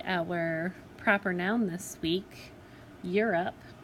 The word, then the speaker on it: Europe: Europe is an oddball because it is supposed to follow the pattern of a long O here, because you have your vowel consonant E, which should make the O say O, but when you say Europe, you're almost hearing that U sound.